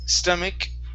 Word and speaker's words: stomach: This is ache, stomach ache. Try that with the K sound instead of stomach. It's stomach. Stomach with a K sound.